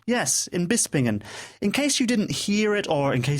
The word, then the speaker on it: Bispingen: is located in Beast bispingen how do you pronounce that bispingen bispingen yes in bispingen in case in case you didn't hear it